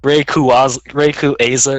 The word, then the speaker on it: Rayquaza: it should be like Rayquaza or something. Rayquaza. Look, there's a Q in there, and there's not even anything happening with it.